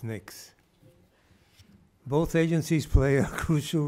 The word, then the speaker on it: NICS: background check more commonly known as NICs pronounced as NICs both agencies play a